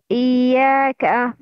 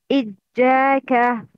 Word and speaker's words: إياك: Example. إياك. The right pronunciation is إياك. The wrong pronunciation is إجاك.